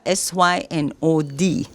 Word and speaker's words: synod: So I'm in the room, in the newsroom, the studio, reading, the Methodists had a SYNOD. Synod. But Sylvanna think that's synod. So she know check with